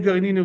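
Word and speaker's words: גרעינין: Gar'inin or gar'inin? You say gar'inin with an aleph, you spell it with an ayin, gar'inin.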